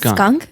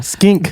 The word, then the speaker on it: skink: think that's a lizard it's pronounced skunk yeah no skink Stewart thing again I